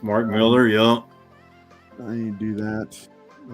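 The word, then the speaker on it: Millar: Southern Karma geek is intent on correcting me on the pronunciation it's Mark Miller yeah you do that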